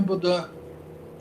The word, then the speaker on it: Bodin: Baudin, se escreve O- Bodin, se eu não me engano, mas é francês, né? Então é Baudin.